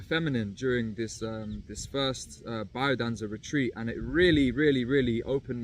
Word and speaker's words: Biodanza: And by the way, people call it Biodanza, but I think that's more so for like the Latinos. I think, you know, pronounced in the English accent, it is Biodanza. So that's how I'm saying it, Biodanza.